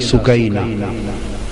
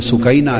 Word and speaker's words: سکینہ: امام علی مقام سیدنا امام حسین کی پیاری لخت جگر شہزادی سیدہ سکینہ، اصل نام ان کا عربی وزن میں سکینہ ہے، عرف عام میں سکینہ چلتا ہے، اصل لفظ سکینہ.